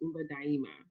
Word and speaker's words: Umba Daima: Umba Daima. Welcome. Thank you. Thank you for having me. Umba Daima has two pronunciations. So the other one is Umba Daima. So sometimes you'll hear me say both.